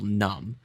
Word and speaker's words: numb: Like the word, for example, numb. Like, oh, the B is silent.